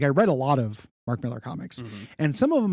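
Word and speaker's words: Millar: relationship with Mark Mar Mark Miller is actually I think how you're supposed to pronounce it but when I was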